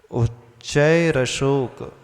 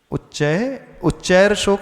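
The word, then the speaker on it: उच्चैरशोक: उच्चैर अशोक, उच्चैर शोक नहीं पढ़ना। बहुत सारे लोग कैसे पढ़ते हैं? उच्चैर शोक। उच्चैर पढ़ोगे तो र उसमें हलंत हो जाएगा। उच्चारण कैसे करना? उच्चैर अशोक, यानी विसर्ग था उच्चय के बाद और वो अशोक, उसकी संधि होकर के क्या बन गया? विसर्ग का रेव बन गया, तो उच्चैर अशोक।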